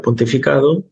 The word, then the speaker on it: pontificado: Vale, la palabra pontificado es una palabra llana, porque tiene el acento en esta sílaba.